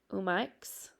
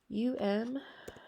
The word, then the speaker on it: umiak: kayaks / and I want to make sure, umaks, I forget now how I said it. I would have to look up the pronunciation to be positive, but UMIAK.